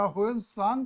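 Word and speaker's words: ह्वेनसांग: सांग न सांग या होन सांग का ही उच्चारण करिए वान ंग ये होन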